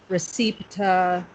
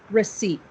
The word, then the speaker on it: receipt: So when we look at this word, it looks like maybe we would say recepta or recipe or something like that. Yeah? Yeah, of course, because it's spelled so funny. But we say it receipt. Receipt.